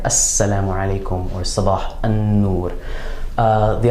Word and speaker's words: السّلام: What happens is that instead of pronouncing the lam of alif lam, we're going to double sort of strengthen the sound of that sun letter by using shadda, as you can see here, Assalamu alaikum, or Sabah an-Nur.